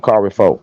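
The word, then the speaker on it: Kari Faux: Kari Fo.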